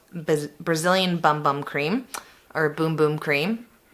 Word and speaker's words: Bum Bum: bum bum cream or boom-boom cream I say bum bum just cuz it's fun but I think it is pronounced boom-boom cream so if you haven't